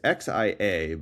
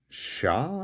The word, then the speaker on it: Xia: It's Xia, but it's like Sha or something, I think.